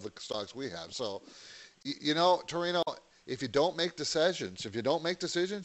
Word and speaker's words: Torino: It's Torino.